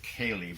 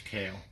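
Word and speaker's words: Caille: this company called Cale that's CA il le I could announce with Kaylee but I was pronouncing it wrong I think we got did the moisture but tell me this kale well they didn't want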